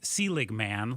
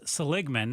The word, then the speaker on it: Seligman: It looks like Seligman, like the former commissioner of baseball, Bud Selig, but it's Seligman.